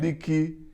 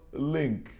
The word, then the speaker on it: leak: Then before that, he said leaking is the word comically substituted with linking in this sentence. Yeah. Certainly a product of funny pronunciation. Yes, We do that yeah. a lot. Yes, that's another factor So what affecting. a leaky roof Yeah. does, what a leaky roof does is leak, not link.